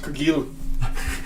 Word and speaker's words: Cargill: It's pronounced Cargill. Oh, it's French.